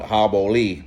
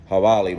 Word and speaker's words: Jabali: footage from hibali bar which i butchered the name calling hobo lee bar in the other clips but it's hawali bar and one thing i